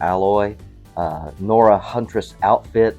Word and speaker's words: Aloy: I believe the name might be pronounced Aloy since there's only one L there as opposed to alloy.